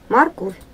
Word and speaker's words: морковь: Морковь. Морковь. Морковь. Ударение на второй слог.